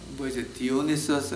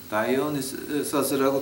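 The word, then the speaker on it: Dionysus: 신 디오니서스라고 하는 디오니서스 아니면 다이오니서스라고 두 가지로 발음을 하는데요.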